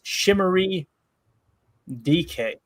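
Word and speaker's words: Chimere Dike: By the way, Chamir Dyke, I hope I'm saying that right, Chamir Dyke, is pronounced Shimmery DK.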